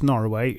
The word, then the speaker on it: Norroway: while we're at it let's talk nor away while I'm going to pronounce Norway exactly like that it is absolutely